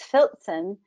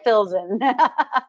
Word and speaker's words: Filzen: If we pronounce it properly, it's Filzen. But I learned a long time ago to drop the T sound of the Z, like pizza, because people always want to throw a T into my name. It's like, no, it's hard enough to spell. Let's make it phonetically easy. Right. Filzen. Fill it with Zen.